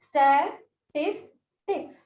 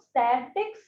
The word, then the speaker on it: statistics: Because some students pronounce it as statistics. Okay, they pronounce it statics. It is not statics. It is statistics.